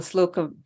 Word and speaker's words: Slocum: I liked also the Slocum. I don't know if I'm pronouncing that right. Slocum House, I at the think park. that's correct.